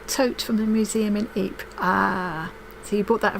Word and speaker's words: Ypres: It's something like Ypres. Yeah. But I know people like my great grandfather, who was killed in the war, would have called it wipers.